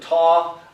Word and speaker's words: tau: Some people pronounce it taw. I grew up calling it tau, so that's how I'll pronounce it, tau.